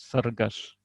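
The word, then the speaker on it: цæргæс: «саргаш» — это орел, читается большинством жителей севера Осетии именно так, то есть буква «С» произносится как «С», а буква, похожая на русскую букву «С», произносится как «Ш». Единственная дополнительная буква осетинской кириллицы — это лигатура АЕ, читается как русская безударная А, заударная А, то есть «саргаш».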